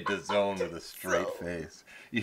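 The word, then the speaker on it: DAZN: 350 million dollar deal whose technical way they would like you to pronounce it is the zone like we're in the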